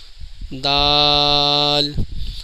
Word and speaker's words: د: کا صحیح تلفظ ہے، دال جب آپ پڑھیں گے تو اس کے اینڈ میں لام کی آواز نکلے گی، دال۔ ناظرین، یہ ہے زال،